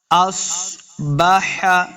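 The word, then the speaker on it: أصبح: ان پہ۔ ان اصبح، صاد حروف مستعلیہ سے ہے، اس کو موٹا پڑھنا ہے۔ اصبح، صاد ساکن ہے نا،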